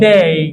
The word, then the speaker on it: day: করি হচ্ছে ডে this is wrong এটার সঠিক উচ্চারণ কি হবে ডে ডেই ডেই কি হবে ডেই একবার খেয়াল করে দেখেন প্রত্যেকটা